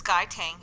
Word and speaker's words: Guy Tang: I want to pronounce his name correctly. It's Guy Tang.